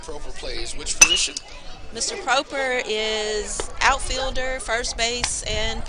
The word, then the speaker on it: Proper: It's spelled proper. Pronounced Proper. Okay.